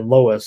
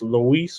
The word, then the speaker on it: Luis: Lois Lois Boy I want to say Lois. I think I said Lois, but uh correctly pronounced I think it's Luis Boy.